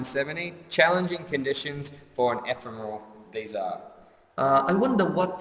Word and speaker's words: ephemeral: On line 70, challenging conditions for an ephemeral. These are. I wonder what the word ephemeral, or how do you pronounce it again?